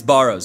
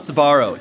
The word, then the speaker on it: Barro's: Is there a silent S before it? No, it's Barrow's. It's not Sbarro. It's Barrow's. It's B-A-R-R-O, Barrow's, which is hilarious.